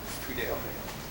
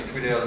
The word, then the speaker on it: Tweedale: There's an A in there, Dale. Yeah. Tweedale. Sir, would you spell your last name, please? My name is Tweedale.